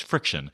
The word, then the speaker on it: FriXion: And I realize I said it wrong. It's Friction. Friction. Frixion. Okay. Friction pen. Friction.